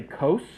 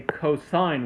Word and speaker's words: cosine: For the same reason I don't say cos, I say cosine when I see that, because that's just what it's short for.